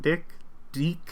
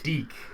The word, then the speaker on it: DIC: Is that how you pronounce it? Dick? Deek. All right, whatever.